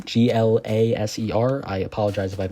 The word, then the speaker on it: Glaser: I believe it said Joe Glaser is how you pronounce that name. Glaser.